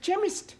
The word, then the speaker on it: chemist: with okay CH but that is making it chemist no the CH is pronounced c ah now I'm understanding c h